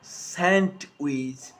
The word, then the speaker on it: sandwich: st handsome sandwich so i am not pronouncing the d in sandwich i am just pronouncing the consonant and sound before it take with me one